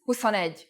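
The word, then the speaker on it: huszonegy: the pronunciation for example 20 is who's with a long u but 21 is who on Ed with the U pronounced short four is n but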